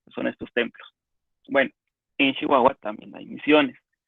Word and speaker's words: Chihuahua: Y digo Chihuahua porque tengo amigos de allá y pronuncian Chihuahua, y si la gente allá dice Chihuahua, yo me imagino que es Chihuahua.